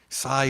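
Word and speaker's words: 西: Sai ho jodo, right? The sai is nishi, like west, if you know nishi, like nishi honganji, right? That nishi is west, but the Chinese pronunciation, the onyomi is sai.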